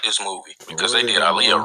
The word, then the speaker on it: Aaliyah: if you like this movie because they did Aaliyah wrong. Yeah, just Aaliyah. Like Shut the Then they saying her name. Start the movie off by saying her name wrong. Aliyah.